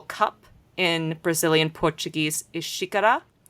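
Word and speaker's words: xícara: Unlike the family name that has an X in it, which in Portuguese in Brazilian Portuguese is pronounced like a sh. So the word for cup in Brazilian Portuguese is shikara, not ex isara if I was pronouncing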